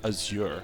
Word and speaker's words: azure: pronunciation is wrong yeah the big one being aure that I believe is properly pronounced Azure it's like that color of blue yeah Azure I think well I think the emphasis on the second Sy I think it's like azir but I just like